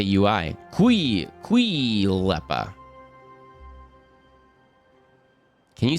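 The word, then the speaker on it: Kaulquappe: German dialect for tadpoles, Kuhleppe. Because the hard K and the U not being U, but more like ooh. I don't know how to say UI. Kuhleppe.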